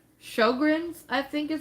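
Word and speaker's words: Sjögren's: It's Sjogren's, I think is how it's said.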